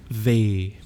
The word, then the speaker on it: W: So in my head I always say Vau, V, and then I remember that Vau is V and V is W.